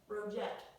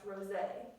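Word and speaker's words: Roget: I needed the pronunciation for that last word because I was saying rojette or something like that. That's why we need the pronunciation guide so he can help us know how to say it. So that last name is pronounced Rosé.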